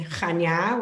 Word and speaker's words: Chania: get off the airplane in chania which is the name of the airport that's how you pronounce it that's c-h-a-n-i-a we will have our